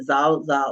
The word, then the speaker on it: Zorzor: person was in the zza or zorzor as we spell it but zza region